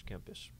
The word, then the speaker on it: Kempis: That's how you pronounce his last. Yes, Thomas Kempis.